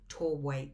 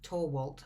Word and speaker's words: Torwalt: song by brian and katie torway torwalt i get that name wrong all the time but anyway and it's